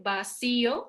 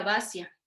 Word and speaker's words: vacío: Nosotros al decir vacío o vacía, pronunciamos con mayor potencia la I, entonces tenemos que separarla de lo que pudo haber sido un diptongo con la A. Si no, diría vacia.